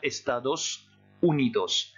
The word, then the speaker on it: estados unidos: rouge le s final pour vous rappeler qu'on doit prononcer ce s à la fin des moroni bien estados unidos en français états unis